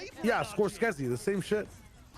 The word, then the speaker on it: Scorsese: How do you pronounce is not Martin Scorskezi? Is that not his name? Is that not his name? This is this is used to play. Yeah. Scorsese the same Dude, they